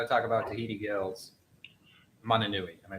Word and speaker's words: Mananui: We got to talk about Tahiti Gill's Mananui. Am I pronouncing that right? Yes, Mananui.